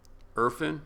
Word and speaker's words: Irfan: Irfan? You think I'm saying it wrong? No, you're saying it correctly.